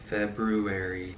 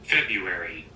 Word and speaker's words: February: How to pronounce February. February. February. Yeah, February. Not February. Okay. That was so weird. I literally thought I did not know that there was an R right after the B in Feb- February.